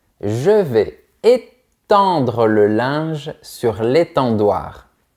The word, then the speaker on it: étendre: Tu commences par un sourire et ensuite tu imagines un rectangle vertical dans ta bouche. Étendre. Encore une fois, généralement, quand on a les lettres EN, on prononce en.